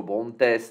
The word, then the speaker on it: Brontes: Arme cinétique plus 3% pour le Brontes, je ne sais pas, on le prononce comme Bront, tout simplement à la française.